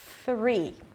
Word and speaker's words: three: roof of the mouth you're blocking the air here three three okay that's a th sound three four the the